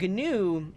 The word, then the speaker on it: GNU: Linux there you go the inventor calls it gnu so ha ha ha